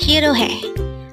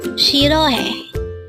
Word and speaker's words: 싫어해: Again, it's SIRHEOHAE. It is pronounced as a three-syllable word. The first syllable is shir, second syllable is o, and third syllable is he. Pronounce it with me. SIRHEOHAE. SIRHEOHAE.